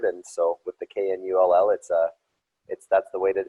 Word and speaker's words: Knull: Normally cases are non-silent, but it's a German pronunciation, and in Germany they like to pronounce all the letters in every word, and so with the K-N-U-L-L, that's the way to say it, is the Knull.